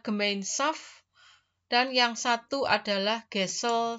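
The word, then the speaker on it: Gemeinschaft: sosial yaitu kelompok gemainsf tulisannya gemainskf ya membacanya adalah gemainsf dan yang satu adalah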